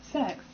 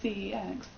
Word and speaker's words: CeX: the shop CES but the shop is actually pronounce this sex and it's so weird and it feel so wrong so I just call it cex because that's how it's spelt so oh yeah